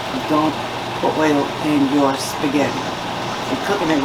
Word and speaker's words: spaghetti: add my spaghetti and we americans we say spaghetti but it's actually if you say it in italian it's not spaghetti spaghetti i'm gonna stretch it